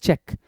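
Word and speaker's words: cheque: sign करते हो amount तो उसको बोलते हैं चेक तो चेक की स्पेलिंग क्या होती है सी एच ई क्यू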